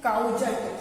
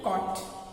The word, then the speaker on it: caught: काउजट, CAUGHT, काउजट spelling लिख रहे हैं, लेकिन बोल क्या रहे हैं? कॉट, CAUGHT, है ना। पढ़ेंगे तो क्या आएगा? काउजट, लेकिन ये एक्चुअली में क्या है? कॉट।